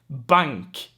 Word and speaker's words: bank: n plus k sorry bank bank so here in front of a k the n turns into an n sound as well good stuff good talk